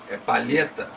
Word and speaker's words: palheta: Não é palheta, nem palhetá, é palheta. Então, palheta. Palheta. A sílaba tônica é a penúltima, o lhe.